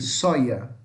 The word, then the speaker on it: soja: Na América Latina, fala-se com esse som de D com J, soja, soja. Já na Espanha vai falar com som de I, soia.